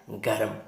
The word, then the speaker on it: गर्म: के ऊपर लगाना है, और आधे रा का उच्चारण किससे पहले करना है, माँ से पहले करना है। क्या हो जाएगा, गर्म।